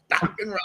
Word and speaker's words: Dokken: Dokken rhymes with rockin'.